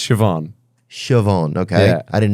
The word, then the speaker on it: Siobhan: That's nice, but it's Siobhan.